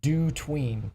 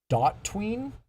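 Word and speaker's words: DOTween: uh has different opinions on how this was pronounced uh I like to call it do tween because it just makes more logical sense that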